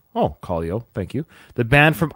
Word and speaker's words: Kaleo: did a reaction Ryan said it right oh Callo thank you the band from Iceland that did